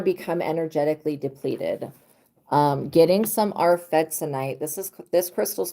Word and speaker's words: arfvedsonite: Getting some arfetzonite. This crystal is called arfetzonite, and it protects from psychic vampirism.